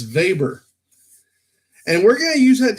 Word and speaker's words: Weber: we pronounce Alfred Veit he's German so apparently it's going to be Alfred Weber Weber survey Berrien analysis it's not Weber it's Weber and we're gonna use